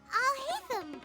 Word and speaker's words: Alhaitham: I've never got to suo wait up it's allam right I've been saying it right thank God